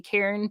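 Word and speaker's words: Charon: the river sticks and most people mispronounce his name they say Char but it's actually Karen poor guy who's the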